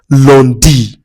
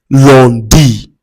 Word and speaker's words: lundi: Lundi. Lundi. l u n d i.